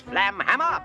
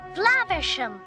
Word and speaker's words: Flaversham: Not for long, Miss Flamhammer. Flaversham. Whatever. Yeah, there's a running joke about Basil mispronouncing the last name Flaversham.